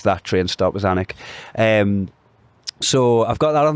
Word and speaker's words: Alnwick: Anik. Spell it. ALNWICK. You might pass a train stop called Almouth. Yeah. On the way to Newcastle, sometimes it's that train stop as Anik.